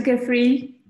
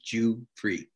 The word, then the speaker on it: Giuffre: hi dr goofy how are you i'm good i'm good i'll i'll teach you how to pronounce my name it's jew and then free and then f-r-e-e jew free jew free oh i